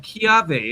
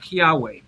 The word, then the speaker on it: kiawe: got to buy this wood from Hawaii called Chiave. It's spelled K. For anyone that doesn't know, it's Kiawa, pronounced Chiave, not Kiawe.